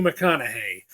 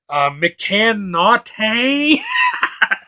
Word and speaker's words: McConaughey: Jodie Foster and Matthew McConaughey or as I used to pronounce his name when I first saw a time to kill McCann not hey I did not see